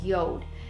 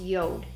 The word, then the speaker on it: Jord: so I was contacted by a company called Yoda now it's spelled the way you see it in front of you J Ord but pronounced Yoda and they asked if I would review one